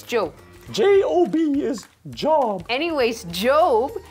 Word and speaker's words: Job: I do believe it's pronounced Job. It's Job.